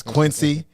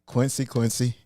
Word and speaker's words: Quincy: It's Quincy. Quincy.